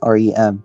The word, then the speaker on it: REM: ADM and REM, pronounced Adam and Rem.